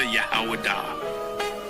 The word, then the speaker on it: Judah: When I say Judah, Yahawadah. That is the ancient pronunciation of the word.